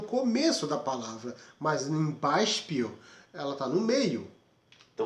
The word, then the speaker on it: Beispiel: Vocês perceberam que nessa terceira palavra o SP está no meio da palavra e está sendo pronunciado da mesma forma, como um tipo de chiado.